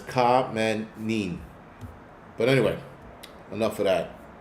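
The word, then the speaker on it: Khamenei: It's not coin. is kamine cuz I just got the um pronunciation a couple minutes ago but it's K manin but anyway enough of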